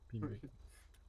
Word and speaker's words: Pebacon: Pi Bacon de son nom, bien évidemment. D'ailleurs, tu m'as donné un nom de Chris, je sais pas qui c'est. Donc, un peu bacon. Ça se prononce Pi. Pi Bacon.